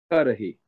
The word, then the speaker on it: Cudahy: He played, and if I can pronounce his name correctly, because I never could get it right, Cudahy, I'm guessing? Cudahy.